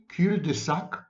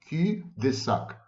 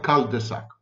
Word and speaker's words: cul-de-sac: Every cul-de-sac, that's the correct pronunciation, cul-de-sac, not cul-de-sac.